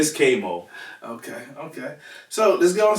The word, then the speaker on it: Kvy Moe: That's all it is, but it's Kvy Moe.